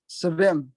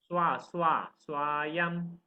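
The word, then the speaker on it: स्वयम्: Ya how do I pronounce that, Guruji? Ya Savem. Swayam.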